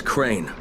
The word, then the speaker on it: Crane: the video store no my name is crane crane crane rhymes with train and brain and sane and grain and rain and plane and the other kind